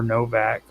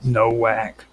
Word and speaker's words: Nowak: And I'm going to be talking about Martin Novak, or Novak. It's spelled with a W, which I used to always call him Nowak. German sort of thing, yeah.